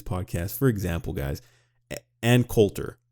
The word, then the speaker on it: Coulter: So if you do listen to some of my previous podcasts, for example, guys, Ann Coulter, I called her Ann Coultier. I made her French.